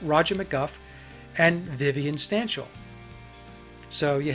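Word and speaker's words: McGough: So it's Roger McGuff and Vivian Stanshall.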